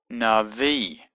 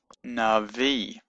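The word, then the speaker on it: נביא: So it's Navi.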